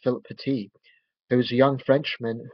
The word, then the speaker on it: Philippe Petit: friedrich pitta phil pitti i think it's pronounced philip petite there was a young